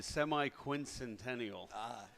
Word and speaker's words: semi-quincentennial: could pronounce it. It's the semi-quincentennial, and that means 250 years.